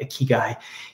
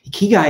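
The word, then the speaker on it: ikigai: Japanese word is on the left the English pronunciation is on the right a key guy a key guy is a way of of helping a person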